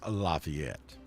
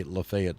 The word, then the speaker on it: Lafayette: that's pronounced Lafayette Lafayette Square in LaGrange is pronounced Lafayette don't ever go to LaGrange Georgia in say Lafayette Square you'll get run out of town so